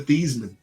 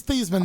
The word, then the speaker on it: Theismann: And his name is Thiesman, not Theismann. Of course, everyone knows him as Theismann. Steve, do you want to tell him why it's Theismann, not Thiesman now? To rhyme with the Heisman, baby. When he was his name is Joe Theismann, but it was Theismann for the Heisman, so they changed the way you said it.